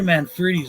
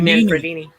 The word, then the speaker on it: Manfredini: I will say this: Henry Manfredi's music is just fucking. Who? awesome. Henry Manfredi or Freedy or whatever his fucking name is. Harry How do you say it? Manfredini. Harry Man- Harry Manfredini.